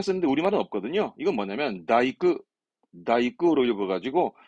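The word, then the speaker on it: 大工: 이것도 발음은 사이크, 사이크. 그다음 대공, 대공이라 쓰는데 우리말은 없거든요. 이건 뭐냐면 다이크, 다이크로 읽어가지고 그 목공업을 하는 목수를 보고 얘기합니다.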